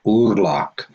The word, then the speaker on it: Orhac: The Occitan called Aurillac, Orhac, pronounced Urlac, as un Ur.